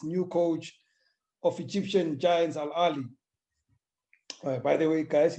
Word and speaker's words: Al Ahly: coach of Egyptian giants Al Ahly. By the way, guys, it's pronounced Al Ahly. We've all been saying Al Ahly for many years, South Africans, it's Al Ahly.